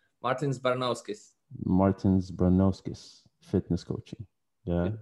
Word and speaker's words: Martins Baranovskis: Martins Baranovskis.